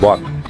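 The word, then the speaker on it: Boac: i mean not marindukque ng bok Wak pronunciation niya pala is walk.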